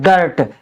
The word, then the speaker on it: dirt: अगर लास्ट में आई के बाद दो कॉन्सोनेंट हैं और उनमें आर है तो उसका उच्चारण अ की मात्रा से करते हैं, यानी कोई उच्चारण नहीं। जैसे DIRT तो डर्ट, यानी डपे कोई मात्रा नहीं लगेगी, अ का उच्चारण ही माना जाता है इसको, तो इसको हम पढ़ेंगे डर्ट।